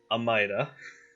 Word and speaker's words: Amida: Amida. Yes. Saying it correctly. Thank you. My head always wants to say it Almighty, I know. and I know that's wrong.